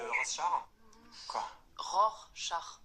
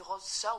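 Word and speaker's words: Rorschach: un petit test de RO R char oui c'est ce que j'ai dit non vous avez dit rose char je veux pas le savoir mais on dit ROR char c'est un peu compliqué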